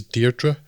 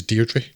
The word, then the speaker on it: Deirdre: until the point when he pronounces deirdre in the british way which is deirdre yeah it's like oh that's oh that that just sounded so wrong it's like natasha michael is um quite clearly getting away earlier saying by the way my name is deirdre which is south sprouse island and it's generally how it's pronounced in the us but you know in